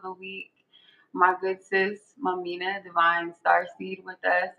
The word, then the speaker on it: Mumeanha: Hi, I'm Mamina. That's actually my name. That's actually how you say it.